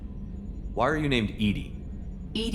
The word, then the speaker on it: EDI: are you named Ed Ed is the phonetic pronunciation of Eed that is an acronym for enhanced defense intelligence what do you do